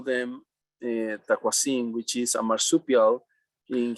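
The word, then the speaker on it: tacuazín: We, How do you spell it it? is What do you call it? taquasin, which is Taquasin? T-A-C, yeah, T-A-C-U, A-Z-I-N, taquasin. Taquasin.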